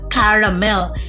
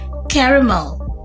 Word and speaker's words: caramel: So hindi siya caramel. It should be pronounced as caramel.